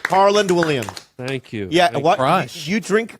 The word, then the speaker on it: Harland Williams: way harl Williams I didn't say his name Harland Williams thank you yeah you drink crush crush what